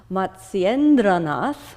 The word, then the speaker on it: Matsyendranath: Matsyendranath, which is the sage that this is dedicated to. Try to say that again, don't be afraid. Matsyendranath, and asana.